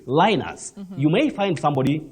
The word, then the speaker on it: Linus: Sometimes when you come to English, We'll say Linus. You may find somebody, like in Latin, somebody may talk of Linus. Another person, Linus. But in English, this name is pronounced Linus.